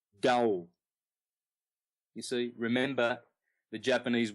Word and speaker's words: Tao: Well, over in the East they have what's called the Tao, the symbol for the yin and the yang, spelled T-A-O, but pronounced Dao.